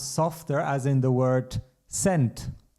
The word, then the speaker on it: Cent: as in the word cent, like €1 has 100 cents. And in this context, it's pronounced similar to English, much softer. Cent, which in English would also be cent. It's basically like English.